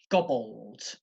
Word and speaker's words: gobbled: If you look at the third word, so you've got the past simple of the verb gobble, you have gobbled, gobbled. Okay, gobbled, 2 syllables.